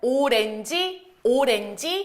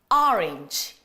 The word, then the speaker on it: orange: 맨날 오렌지 하셨었잖아요. 하지만 외국 나가선 또 발음 제대로 해줘야지. 자, 같이 한번 따라 말해보도록 할까요? 갑니다. orange, orange.